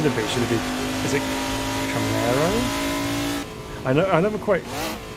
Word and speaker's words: Camaro: later see you next time correcting my pronunciation there so it's Camaro isn't it okay this Arrow there's a